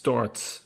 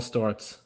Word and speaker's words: Sztorc: It's Storz. In Polish, C is a different letter. Ah, It's pronounced TS. Storz.